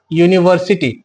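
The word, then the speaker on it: university: हम लोग बात करें यूनिवर्सिटी का, इसका यूनिवर्सिटी। ये जो यूनिवर्सिटी है भले ही ये वोवेल लेटर से स्टार्ट हो रहा है, लेकिन इसका जो उच्चारण है य है।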